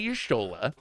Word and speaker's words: Y'shtola: To play Yashtola, I got to pronounce it correctly so you know what I'm talking about. The fun thing to do is play Y'shtola, double blink the Carnosaur, see what happens.